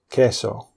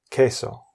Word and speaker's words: queso: The Q is normally followed by a U, E or U, I, and it's pronounced like the K in kilo. For example, quiero queso, which means I want cheese. Quiero queso.